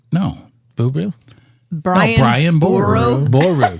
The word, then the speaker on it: Boru: Boru. Boru. Not Boo.